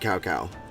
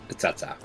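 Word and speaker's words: Cao Cao: Well, Dynasty Warriors 3, they actually pronounced it Cacao. But later on in later iterations, they found out that they were pronouncing it wrong, so then they decided to correct themselves, and it's now Tsatsa.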